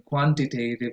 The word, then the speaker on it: quantitative: teachers will be taking quantitative and qualitative research classes, and we don't want to go around mispronouncing these two words. So the primary stress goes in qua, and for both words.